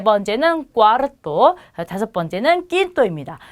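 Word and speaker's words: cuarto: 그 다음에 네 번째는 꽈르토.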